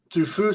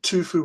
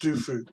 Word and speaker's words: Du Fu: Du Fu, sometimes pronounced Tu Fu with a T, or it's written Tu Fu, but pronounced Du Fu.